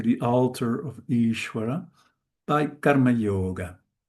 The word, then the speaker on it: karma yoga: altar of Iswara by karma yoga. Karma yoga I also stress this first part because when two conssonants